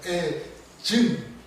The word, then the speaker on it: 애증: 애증. 애정 말고 애증. 이게 경상도 남자라서 이 발음이 안 돼가지고 애증. 정. 밑에 정.